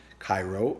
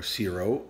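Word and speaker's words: Cirò: And there's a winemaking region called CIRO, C-I-R-O, but not pronounced Cairo or CIRO, or it's like cheer. Cheerio, Cheerio, or Cheerios, CIRO.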